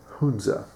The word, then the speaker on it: Hunza: they're going to say the proper pronunciation is Hunza. Well, that may or may not be the correct name, but I think Hunza sounds a whole lot more cool.